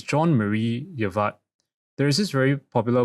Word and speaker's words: Jean-Marie Eveillard: His name is I think it's called John It's pronounced Frencher. It's Jean-Marie Eveillard.